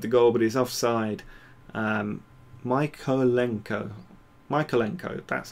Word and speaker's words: Mykolenko: Mykolenko, that's how you pronounce it.